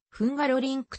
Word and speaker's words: ハンガロリンク: 郊外にあるサーキット現地では風ガロリンクと発音する人が多いつまら